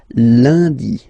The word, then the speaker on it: lundi: Okay, remember, UN is pronounced like un, lundi, lundi, lundi.